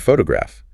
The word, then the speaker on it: photograph: Uh take the word photograph. The stress is on the first syllable.